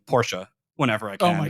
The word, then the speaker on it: Porsche: I've learned that I need to say Porsche.